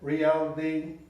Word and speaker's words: reality: Reality, reality é a pronúncia meio D, meio T dessa palavra.